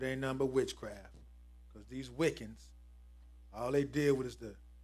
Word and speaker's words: Wicca: number witchcraft because these wiccans all they did was the but we're gonna read it go ahead read what's in yellow Wicca English pronunciation wika is a modern Pagan